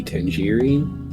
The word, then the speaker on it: Tengri: If I remember correctly, that god was Tengri, or the old pronunciation would be Tengiri.